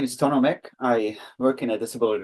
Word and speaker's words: Tonu Mikk: that ques a group groups so hopefully I pronounced your name correctly oh wonderful thanks Colin yes my name is tono Mech I work in a disability Resource Center and